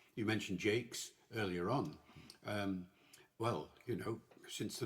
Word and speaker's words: Jaques: And if you don't pronounce it as Jakes, you miss other puns.